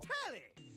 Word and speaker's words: Tally: The name's Tally. Rhymes with Nelly, like Whoa, did you know 5,000 channels like an analyst deli?